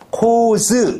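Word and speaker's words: corps: 달라 코와 하나의 군단이 똑같은 철자들 s는 묵음이야 S 발음에 코즈 그럼 뭐야 군단들 그래서 어 어코 하나의 군단 코즈 군단들 주의하라 PS 둘 다 묵음이다 뭐만 묵음이다 피만 묵음이다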